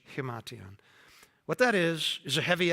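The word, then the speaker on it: himation: And I always forget how to pronounce it. It's amartion, I think.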